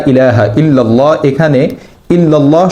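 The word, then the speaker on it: إلا الله: এখানে ইল্লাল্লাহ শব্দের প্রথম লসন যুক্ততে আকার দিয়ে অর্থাৎ জবর দিয়ে পড়তে হয়। কিন্তু কিছু মানুষ এক্ষেত্রে আকার অর্থাৎ জবরের পরিবর্তে একার জের দিয়ে ইল্লাল্লাহ পড়েন যা সম্পূর্ণ ভুল। এ শব্দের সঠিক উচ্চারণ হচ্ছে ইল্লাল্লাহ।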